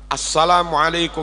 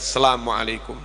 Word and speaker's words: Assalamualaikum: Asalamualaikum warahmatullah harusnya Assalam Assalamualaikum warahmatullah Asalamualaikum warahmatullah as itu ada Al ketemu Sin bacanya harus assalamualaikum warahmatullah Asalamualaikum warahmatullah beberapa